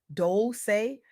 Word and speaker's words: Dolce: I'm Doli, pronounced dolce, like sweet softness whispered in French.